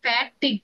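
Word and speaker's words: fatigue: হাতি দেওয়া ম্যাম আর ফ্যাটিক ফ্যাটিক এটার এটার উচ্চারণ হচ্ছে ফ্যাটিক ফ্যাটি গুনা এটাকে বলে উইক ফিল করা হ্যাঁ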